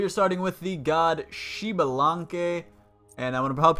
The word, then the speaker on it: Xbalanque: really it's really difficult it doesn't look like that's what it's what it say but if you go to his voice pack you'll hear him and pronounce his own name and it is shalan now he is a pretty